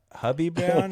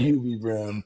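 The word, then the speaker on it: Hubie Brown: Hubby Brown. Is it? How do you say? Huie Brown. Huie Brown. Shout out Huie Brown. I think I said hubby.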